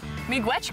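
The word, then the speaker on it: miigwech: thank you in ojibwe we say me gretch me gwetch cory me witch this is so good this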